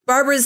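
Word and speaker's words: Barbora: agrees to help Barbara Barbara's name is spelled b a r b o r a which is why I'm saying Barbara Katarina convinces her sister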